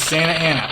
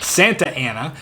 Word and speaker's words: Santa Ana: Number 7 is Santa Ana, or Santa Ana if you don't live in California. We don't pronounce the T's out here.